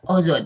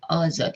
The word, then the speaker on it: Azad: Azad itu bahasa Ozod ya, Ozod gitu pelafalan Persianya.